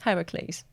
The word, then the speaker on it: Heracles: Yeah, but I'm saying not like Hercules, but like Heracles.